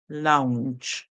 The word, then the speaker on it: lounge: Lounge, lounge, lounge. All right. Remember the G that comes before the E at the end makes the sound J. So we hear lounge, lounge, lounge.